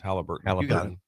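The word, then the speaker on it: Haliburton: Halliburton. He couldn't get a shot. I mean, and right now, his biggest thing. What has he done? He's done 2 things in the playoffs. What is it? Halliburton.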